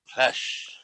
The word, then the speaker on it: Plesh: You gotta say his name right. Plesh.